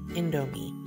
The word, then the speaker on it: Indomie: Yes, that's how you pronounce it, Indomie.